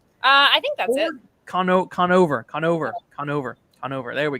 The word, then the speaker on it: Conover: the Pod save America with um either Adam Cordova uh what's his name Adam I said it wrong didn't I uh I think that's it Conover Conover Conover Conover there we go um and